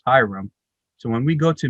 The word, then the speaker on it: ihram: And what the white cloth that we wear is called the ihram, or if you sound it out phonetically, it's hiram.